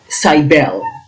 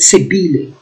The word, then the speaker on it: Cybele: Cybele. There are many pronunciations here. Some people pronounce it Cybele or Cybele or Cybele.